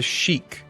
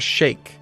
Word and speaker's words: sheikh: Down here, this guy is a sheik or a sheikh, depending on how you want to pronounce it. Both are correct.